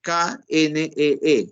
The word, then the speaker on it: knee: rodilla en inglés, knee, que en inglés se escribe K-N-E-E y se pronuncia knee.